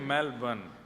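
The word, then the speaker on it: Melbourne: को जला दे मेलबर्न मैंने कहा नहीं मेलबर्न र जो है वो साइलेंट बोलो तो लेकिन हुआ क्या यहां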